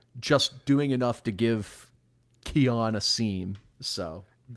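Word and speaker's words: Keyjuan: which I apparently learned it's Keon and not Kiwan despite his name being spelled K E Y Juan.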